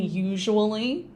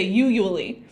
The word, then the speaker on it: usually: be using these however we need to make sure that we are pronouncing usually correctly so sometimes I'm not really sure why both students and some candidates I've encountered have had trouble with this word usually and they'll sometimes not pronounce the je sound here where the S is and they'll just skip it and they'll say usually and that's not right ever so what we're